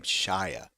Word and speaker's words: Shia: Shia. That's how you pronounce his name, Shia.